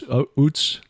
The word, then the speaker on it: Uz: of Job, and that is, how would you pronounce it? U-Z, Uz, Utz?